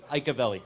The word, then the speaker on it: Iacovelli: how do you pronounce that scottt did I iavelli give me that again iavelli iavelli I apologize for that no problem not